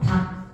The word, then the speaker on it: 닭: 자, 우리 이거 리을 기억 다 살려서 발음할 거예요. 어렵죠? 이거 영화 같아져요. 그지? 영어 같아지지. 그래서 얘는 하나만 살아나라. 닭 이렇게 얘는요.